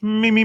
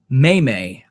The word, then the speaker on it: meme: in a row it's me me me me but still there's at the end so you say the long e but you don't say Mimi mayay I've heard it pronounced